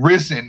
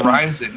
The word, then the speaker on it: RIZIN: for me to hear to keep hearing risen instead of rising it's like why why are you not saying it correctly and you know the